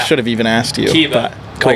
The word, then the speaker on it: Kiba: Kiba. Cool. Like from Naruto. Nice. The anime. So very cool. Kiba, yep.